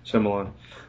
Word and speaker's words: Shyamalan: I was making fun of myself more than his name, but yeah, Shyamalan.